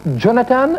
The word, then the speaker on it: Jonathan: On prononce Jonathan ou Jonathan? Jonathan.